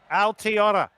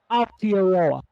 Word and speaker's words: Aotearoa: Like, here's how you pronounce it. You go, ow, like, how you go, ow, here, lower. It's like, Altiora. yeah, just let them kind of pull out a bit more. Aotearoa.